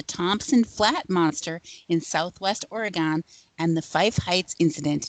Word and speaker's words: Oregon: But, here here you you pronounce it Oregon. Oregon. Just just so you know.